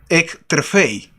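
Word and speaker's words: ἐκτρέφει: Sustentar proviene aquí, se utilizó una palabra griega, la cual se pronuncia ektrefei.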